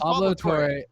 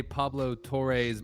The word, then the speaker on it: Pablo Torre: It's annoying to say Pablo Tour his name for cuz his name is Pablo Tore and and when you say Pablo Toré's podcast it sounds like you're saying you're saying his name wrong and that that's saying his name wrong.